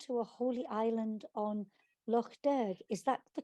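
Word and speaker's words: Lough Derg: that takes him to a holy island on loch derg is that the correct pronunciation anthony very good pronunciation yes a place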